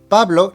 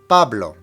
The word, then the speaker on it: Pablo: Pablo needs to have the emphasis on the very first syllable. Pablo. Pablo. So now let's repeat this part of our sentence.